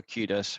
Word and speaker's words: kudos: She was looking for kudos rather than profit. The pronunciation is kudos.